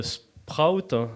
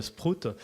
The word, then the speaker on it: Sprout: Le Sprout, voilà, c'est comme ça qu'on dit. On m'a dit, fais attention, il ne faut pas dire le Sprout.